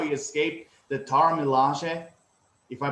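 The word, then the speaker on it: Dora Milaje: Like he's so great, and the way how he escaped the Dora Malay, if I pronounce correctly. Dora Malay, yeah, you got it.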